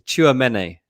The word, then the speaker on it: Tchouaméni: It's Tchouaméni. I always say Tua instead of Chua. I think that's where I'm going wrong. It's TCH, isn't it? It's TCH.